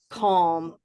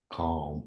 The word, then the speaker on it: calm: Calm, all, with this what we call dark L. Raise your hand if dark L is a new term for you. Calm. Dark L. Is that a new idea? There's light L, la, la, la, la. And there's dark L, which is at the ends of words, like call me, call.